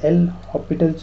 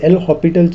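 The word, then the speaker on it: L'Hôpital: there is a concept known as that is l hospital's rule l so while pronouncing it it is l hopital's rule most of the students say it in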